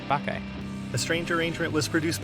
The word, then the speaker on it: Bacchae: streaming services so again we're called baky b a c c h a e and now you know how to pronounce it too baky a strange Arrangement was